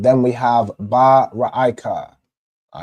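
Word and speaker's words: רֵעַ: It's pronounced like that because, of course, you can see the root word right here is Ra'ai, right? So you wouldn't pronounce this word Rai, you pronounce it as Ra'ai.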